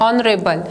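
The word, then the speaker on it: honorable: मैन, देखिए यहाँ पे this spelling has started from the H, okay. H क्या है हमारा, वॉवेल नहीं है, कॉन्सोनेंट है, बट साउंड कैसा आ रहा है, वॉवेल साउंड आ रहा है, ऑनरेबल, that's why we will apply here N, okay.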